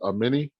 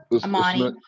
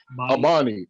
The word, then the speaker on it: Amani: Is it Amini? Amani. Amani. Okay, yeah, Amani.